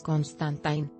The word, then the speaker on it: Constantine: te resulta familiar y la pronunciación correcta de su apellido es constantine imagen 17 11 diapositivas